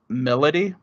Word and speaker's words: Milady: get in your party her name is spelled milady you pronounce it melody okay and it throws